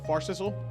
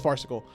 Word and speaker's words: farcical: to endure fart fart I think it's farcical or far Sizzle no it's farcical a courtroom I don't